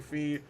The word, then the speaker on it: Fi: out no it's actually fee they just that's the way it's pronounced in Japanese it's like God dang